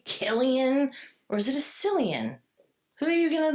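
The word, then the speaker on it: Cillian: Killian, right? I was pronouncing it well. Killian. It's actually Silian. Is it Is it Silian? People go either way. Okay. The actor goes by Silian.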